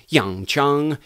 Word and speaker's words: Yong Chun: a variation within Chun it's Jung Jung Yong Chun so it's kind of one word but the tone of it rises in the end so there you have